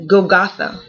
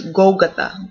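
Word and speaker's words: Golgotha: crucified in goath goath so it's not goath but it's goath emphasis in the beginning okay um this word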